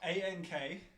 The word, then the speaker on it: Ankheg: Ankheg. A-N-K... What? Heg. Oh, that is not at all what I expected that to be spelled like. It's like half Okay. Egyptian unk, half egg.